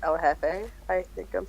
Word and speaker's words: El Jefe: 2002 Triple X El Jefe. I think I'm saying that right. Yep. Well, you know you're saying it right because you're not pronouncing a Mexican dude's name as El Jeff.